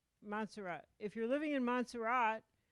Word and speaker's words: Montserrat: If you were living in, if you're living in the Caribbean, where there's about, how do you pronounce that place? Montserrat. Montserrat.